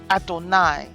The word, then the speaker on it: Adonai: And that name, when we see it, we speak it as Adonai in Hebrew.